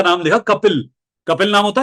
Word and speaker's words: कपिल: मैंने एक का नाम लिखा कपिल। कपिल नाम होता है, स्पेलिंग क्या होती है?